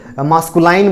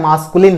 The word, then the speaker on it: masculine: तो कभी कभी हम गलत प्रोनाउंसिएशन भी करते हैं, जैसे मास्कुलाइन बोल देते हैं, है ना। मास्कुलाइन नहीं होता है, मास्कुलिन होता है।